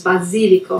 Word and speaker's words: basilico: we want to mention we pronounce those vowels basilico a silicon like this